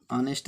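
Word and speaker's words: honest: ठीक है, ऐसे ही हमारा एक शब्द होता है ऑनेस्ट, ऑनेस्ट से पहले भी इसको पढ़ेंगे तो आ आएगा, और आ आएगा तो एन, अर्थात जो शब्द, जिन शब्दों में हमारा एच साइलेंट रहता है उन शब्दों से पूर्व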